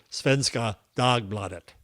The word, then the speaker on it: Svenska Dagbladet: So I look up and according to Gemini it is pronounced Svenska Dagbladet.